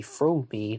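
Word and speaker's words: Fromme: where she says that her name is actually pronounced squeaky from me not squeaky from everyone calls her lynette squeaky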